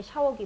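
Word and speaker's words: ཤ: 자, 그 다음에 이 샤자는 길고 약하게 발음을 해줘야 되는 샤자죠. 같이 발음해 볼까요? 샤.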